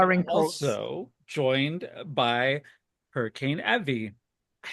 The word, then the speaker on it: Evey: also joined by Hurricane Evey.